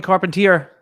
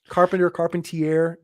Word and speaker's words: Carpentier: Oh, Carpentier, and they don't put it together. It's literally so easy. It's car, it's pen, and it's tier 1.